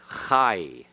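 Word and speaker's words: חַי: the end Pathak yod the Pathak plus yod is I so that is high all right yeah you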